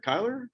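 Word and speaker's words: Chyler: to pronounce her name tyler kyler kyler lee okay yeah it looks like chrysler with the r and s missing yeah uh but i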